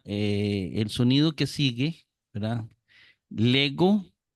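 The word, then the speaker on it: λέγω: sonido que sigue verdad Lego como G de gato leis como ye de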